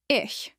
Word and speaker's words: ich: Ish once again ish. This means I use it in mud which means I am tired. Pronounce it as is soft like in Bach.